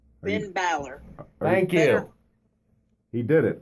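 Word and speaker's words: Finn Bálor: It's Finn Balor.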